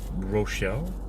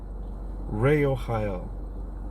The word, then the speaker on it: Rochel: next angel looks like it's Rochelle r-o-c-h-e-l but it could have a different pronunciation let's see in in the guide here if there is a different pronunciation let's see what it says here in the angel Tower Angel Tarot is what Ray Ohio okay so that's not even anywhere close to what I said Ray Ohio it's okay Ray Ohio